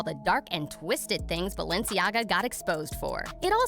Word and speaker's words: Balenciaga: with Kim making fun of Kris Jenner for pronouncing Balenciaga and repeatedly saying the word Baal.